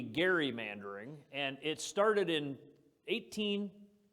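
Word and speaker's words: gerrymandering: everybody know the term Jerry mandering um it's actually a mispronunciation it should be Gary mandering and it started in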